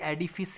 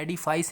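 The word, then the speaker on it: edifice: एडिफिस, सबसे पहले तो प्रोनाउंसिएशन देख लेना, ये एडिफिस है, एडिफाइस नहीं है, क्योंकि कुछ लोग इसको एडिफाइस प्रोनाउंस करते हैं, लेकिन इसका करेक्ट जो प्रोनाउंसिएशन होगा वो एडिफिस होगा।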